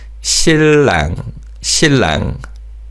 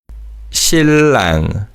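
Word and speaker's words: 신랑: And in terms of pronunciation, inang is pronounced as a le sound. So it's shillang. Let's practice saying these two words. Shin. Shimu, shillang, shillang.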